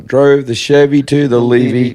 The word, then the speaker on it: Levy: It's actually Levy, though.